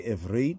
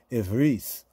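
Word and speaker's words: עברית: Sephardic say Ivrit, Spanish-speaking Moreno Jews, right? The Ashkenazi say Ivris. Remember what we were saying about the Ashkenazic pronunciation? Ivris. Because like the T at the end, in many words in the Ashkenazic pronunciation, it sounded like an S.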